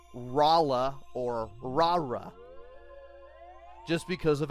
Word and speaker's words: Lara: L A R A however due to how her name is pronounced and well more importantly how L's and rs are pronounced in the Japanese language that wasn't as obvious to Japanese players who did not know English so for all they know Lara's name could have been Lala or rala or Raa just because